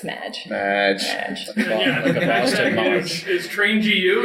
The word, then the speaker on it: Madge: It's Madge. It's spelled MAAAHGE. Whoa. It's like Marge, but it's Madge.